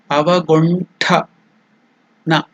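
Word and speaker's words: अवगुण्ठन: Then ta is also not alpa prana. It is mahaprana. Tha. Avaguntha. Na. Avagunthana. That is the pronunciation.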